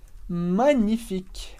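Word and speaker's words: magnifique: excelente magnif TR important como Regra geral em francês o n soa NH NH como em champag champin min por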